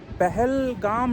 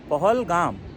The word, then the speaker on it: Pahalgam: called valley of shepherd actually Hindi में पहल काम नहीं होता जैसे हमारे ड्राइवर ने बताया था this is पोहल पोहल pronounce करते हैं पहल पोहल गाव मतलब पोहल मींस शेफर्ड ये शेफर्ड का विलेज